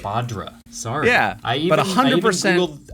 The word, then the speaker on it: Badr: it properly did I that's fine yeah yeah badra but it's okay there's like 75% right badra sorry yeah I even Googled I Googled the